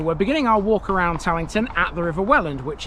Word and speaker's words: Tallington: In my sort of posh sounding southern English accent, I pronounce this place Tington. Do excuse that, won't you? See you shortly. Okay, so we're beginning our walk around Tington at the River Wellland,